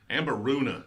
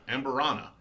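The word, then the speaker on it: Amburana: I've had a little of their stuff, and I like it, but just Amberuna, Nick says. Amberuna. Everybody's saying Amberuna. I mean, this is Amberana. I'm saying it right.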